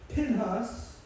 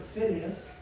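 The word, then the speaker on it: Phinehas: Now, Eleazar has a son named Pinhas, or I pronounce it Phineas, and it says in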